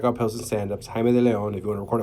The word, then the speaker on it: De Leon: And across from me, we have Chicago's own Jaime de Leon. Is that De Leon, right? That's how you pronounce it.